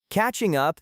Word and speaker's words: catching up: For pronunciation, make sure the G at the end of catching is very soft or dropped and blend it directly into up.